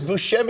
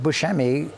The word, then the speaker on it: Buscemi: Well, for years, I feel like it was Buscemi. Everyone was saying Buscemi, right? I say Buscemi, but I don't. But Buscemi is the, the Italian way to pronounce. So it's not wrong.